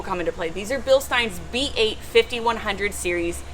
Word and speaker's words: Bilstein: series shocks it is bilstein it is not bilstein it is bilstein kevin corrected me because i pronounced it wrong one time anyways these